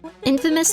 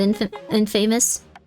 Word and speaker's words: infamous: Infamous, not inf and famous.